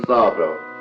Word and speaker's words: Szabo: Welcome to Season 3 of the Christopher Szabo Show. I'm your host, Christopher Szabo. And by the way, American Johnson, the Z is silent.